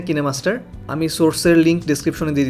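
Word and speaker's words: KineMaster: আপনারা কেউ কিন্তু এটাকে কাইনমাস্টার বলেন, কিন্তু এটার সঠিক প্রোনাউন্সিয়েশন হচ্ছে কিনেমাস্টার।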